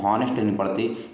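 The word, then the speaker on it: honest: है तो ऑनेस्ट है इसको ऑनेस्ट इसलिए आपका उच्चारण होने से यहां पे एन का प्रयोग किया जाएगा स्टूडेंट साद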